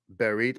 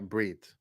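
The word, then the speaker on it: ברית: Berit, but it's more like brit.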